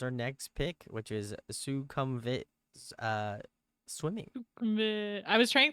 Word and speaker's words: Sukhumvit: our uh was our next pick which is suum vit uh swimming I was trying to hear them pronounce it in the song and honestly it sounded like stupid was GNA say the same thing stupid yeah